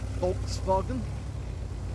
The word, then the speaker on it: Volkswagen: Because it is basically a W in German, it's a V. Volkswagen.